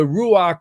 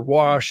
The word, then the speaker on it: ruach: the heater see the the ruach or wash I've heard it pronounced different ways but uh that is